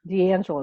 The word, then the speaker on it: D'Angelo: Is that how you D'Angelo, pronounce it? correct. D'Angelo Company.